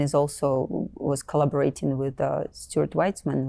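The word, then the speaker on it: Stuart Weitzman: is uh Christian is also was collaborating with Stuart whitesman right did I pronounce it correctly Stuart whitesman wh yeah we won an award y um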